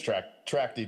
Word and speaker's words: Tracti: bid is $547,434 from, I'm not even sure how to pronounce that, Tracti LLC? It's Tracti, Jameson. Okay, I just need to say with more confidence I would have been right.